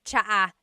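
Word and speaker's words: tsa: Polyglot said it's like the word cha. Cha in Tagalog is tea. like the tea that you drink. And it's spelled T S A. Cha. Cha. That's such a Tagalog spelling. I love it. There's the ts sound and then the double vowel uh pronunciation.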